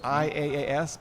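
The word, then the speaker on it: IaaS: majority would agree with is that there's this technology called infrastructure-as-a-service IAS pronounced is all it means really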